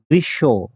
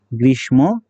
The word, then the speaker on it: গ্রীষ্ম: গ্রীষ্ম, আমরা জানি এটার উচ্চারণ গ্রীষ্ম হবে না, গ্রীষ্ম হবে না, এটার উচ্চারণ হবে কি গ্রীষ্ম। কেন?